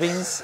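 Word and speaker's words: Wiens: I think Kyle Veens. The jury is out. I did ask. You asked him and he said Veens? And we are sure about it.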